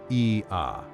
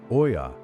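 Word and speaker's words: Oia: You pronounce it Ia, never Oya, and getting that right is the first sign to a local that you actually care.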